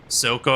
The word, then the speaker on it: Silco: Another one, if you've ever watched a TV show called Arcane, Silco, I think is how I say his name. I don't think it's Zuko.